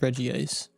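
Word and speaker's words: Regice: Sorry, I'm going to pronounce that. It's Reggie ice.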